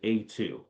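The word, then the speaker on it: A²: so we say like A2, like A squared, right? So it's pronounced A2, but it's A with a exponential sign two, right?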